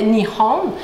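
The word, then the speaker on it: 日本: Le Japon, en fait, ça se prononce en japonais Nihon.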